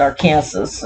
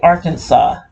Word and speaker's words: Arkansas: I said Arkansas, and got my butt whooped about that too. But anyway, yeah. So it's just okay. It's spelled Arkansas, but I gotta say Arkansas.